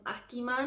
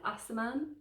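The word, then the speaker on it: Aciman: asiman and i was always calling him akiman i think asaman asaman is how you say his name anyway i'm sure he's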